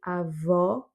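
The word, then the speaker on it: avó: Pour grand-père, c'est avo, et pour grand-mère, c'est avo ouvert.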